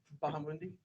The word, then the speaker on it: Bahamundi: Bahamundi. Okay. And can you spell that, please, for the court reporter?